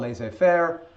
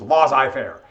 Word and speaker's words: laissez-faire: There's a new idea coming out called, now in French it's called laissez-faire, but if you're from the United States and you go to a class, I was first introduced, it was laissez-faire.